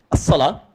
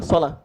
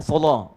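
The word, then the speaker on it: الصلاة: Kalau yang seperti ini, as-shalah, begini. Dibacanya sama dengan yang pertama, sholat. Ya, tapi ini bisa pakai imalah, sholat.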